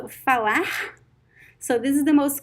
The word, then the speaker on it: falar: pronunciations it can be it can sounds like the american h i'm going to give you one word fala okay the verb falar falar means to speak it as it has the r at the end so fawa so this is the